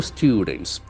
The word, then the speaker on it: student: infected with norovirus two students the word is very important it's what student okay it's a longer o sound like food okay we always say